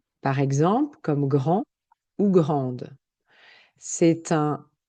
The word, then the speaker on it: grande: Par exemple, comme grand ou grande. C'est un grand jardin, c'est une grande maison. Et au niveau de la prononciation, je n'entends pas le D grand. Et quand j'ajoute le E, je prononce le D.